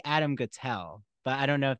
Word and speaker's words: Guettel: As he initially told me when I met him, it's Guettel rhymes with shtetl.